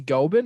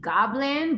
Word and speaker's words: Gobin: we have a special guest tracy um tracy gobin is that he pronounced your last name yeah yeah well in elementary school they say tracy goblin but not just open awesome okay so i